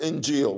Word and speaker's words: Injil: word gospel in Greek he uses the word injil which is the Arabic pronunciation of Evangel he said God gave the